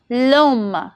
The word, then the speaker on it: l'homme: ash, that is h, to maintain smooth pronunciation as seen in l'homme, that is l'homme, the man, l'école, the school.